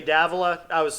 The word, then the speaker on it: Davola: It's actually Davola. I think I was saying it wrong earlier.